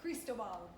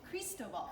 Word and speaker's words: Cristobal: Cristobal. Cristobal. Here's the pronunciation. Cristobal.